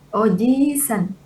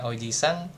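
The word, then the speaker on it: おじいさん: Nah, kalau i-nya nggak panjang, artinya apa? Artinya paman. Jadi ini kalau i-nya panjang, dia jadi kakek gitu. Nih, Oji-san kakek, ya kan? Tapi kalau dia i-nya satu aja, jadinya paman. Gitu.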